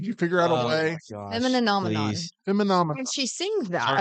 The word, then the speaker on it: Femininomenon: Oh, it is femininomenon. Femininomenon. Wait, what were we saying? I was saying femininomenon. I was doing the same thing I do with Mississippi. I was leaving some syllables out.